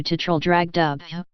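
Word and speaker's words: Traldragdubh: me and my retinue tetryl drag dub or trial drug drip for it is pronounced both ways as near as I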